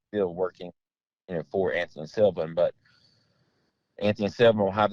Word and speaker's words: Sylvan: Now when you get a plan from Anthony Silva, am I saying it right? Silva? Yeah. Anthony Sylvan. Yeah. Sylvan. S-Y-L. Yep. Got the N on it.